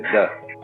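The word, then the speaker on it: 德: The Japanese pronounce it toku, the Cantonese duck, and the northern Mandarins approximately de.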